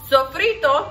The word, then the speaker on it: sofrito: guys this videos going to be about sofrito sofrito that's how you say it so for it